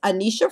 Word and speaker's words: Anneshia: If you want to get in touch with me, my name is Anisha of Anisha and Associates Consulting Services.